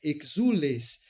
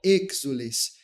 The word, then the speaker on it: exules: Veja só, quando a gente canta exules, a palavra está sendo pronunciada como se ela fosse exules, e não como exules. E a clareza textual exige que o acento seja bem marcado.